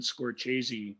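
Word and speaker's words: Scorsese: that we called him martin scorchese yeah because he was told at some point by somebody that that's how it was supposed to be right i believe it was it's how leonard malton uh pronounces it and that was why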